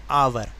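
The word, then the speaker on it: hour: रहा है लेकिन हम इसको बोलते क्या है आवर आवर तो जबकि साउंड आ गई तो इसलिए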